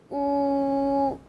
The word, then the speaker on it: ū: So to make this sound, you have to round your lip again. You have to push your lips forward and make a narrow gap, so the air will come out from the gap. You might notice that your tongue will be in the front position. Ooh. It's like the oo in the English word food.